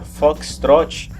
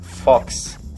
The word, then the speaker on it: Foxtrot: caso em particular pessoal apesar de na regra o correto se a pronúncia foxtrot não é raro você ouve pela família e brasil afora pessoa pronunciar apenas a primeira parte fox assim teoricamente isso não é correto mas muitas vezes os controladores e os pilotos também utilizam essa versão mais curta para digamos agilizar ainda